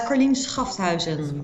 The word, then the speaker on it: Carlien Schafthuizen: It's Carlien Schafthuizen. Schafthuizen. Yeah, but any variation on that is fine. It's a really tough name. And for Germans, it's like Schaffhausen.